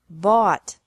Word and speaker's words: bought: This can be spelled O-U-G-H-T or A-U-G-H-T, but the pronunciation is the same. Bring, brought, brought. Buy, bought, bought. Catch, caught, caught. Fight, fought, fought. Seek, sought, sought. Teach, taught, taught. Think, thought, thought. Remember that the G is silent in these verbs.